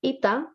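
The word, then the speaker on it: ήτα: three and this is called ita the sound is e and not aids or not n because the capital one looks like an eight and a small one it looks like an n but both of them have the sound of e so it's ipa the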